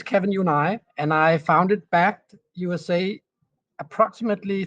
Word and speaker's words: BACD: Is it We just basically just say backed.